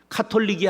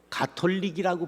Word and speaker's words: 가톨릭: 카톨릭이 아니라 뭐죠? 가톨릭이라고 불러야 돼.